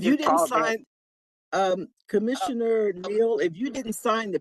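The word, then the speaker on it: Neal: you state your name state your name um spell it for the record please yes ma'am it's last name is Neil n e a l and I'm the commissioner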